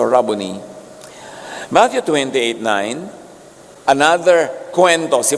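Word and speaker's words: Rabboni: Yung mga Amerikano sasabi nila, "Rabonai." Pero that's an Americanized pronunciation. A Hebrew word walang long eye. So rabony.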